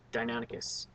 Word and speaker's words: Deinonychus: The Deinonychus, is it Deinonychus or Deinonychus? I've heard it pronounced both ways, but we've always had that debate. I think the science is firmly like Deinonychus.